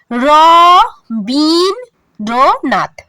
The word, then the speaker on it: রবীন্দ্রনাথ: যেমন রবীন্দ্রনাথ, এটাকে উচ্চারণ করতে হবে র বিন নাথ।